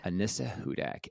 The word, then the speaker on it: Anissa Hudak: for everybody because I didn't write it down pronounce your name one more time so everybody knows how to say it Ana Hudak Anissa Hudak h u d a k so thank you